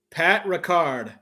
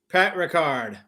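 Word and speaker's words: Patrick Ricard: Pat Ricard. Did I pronounce that right? Kind of like Jean-Luc Picard from Star Trek. Pat Ricard.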